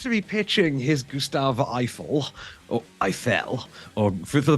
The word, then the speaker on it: Eiffel: watching a movie called Eiffel, rhymes with trifle, starring some French dude and Emma Mackey from Sex Education.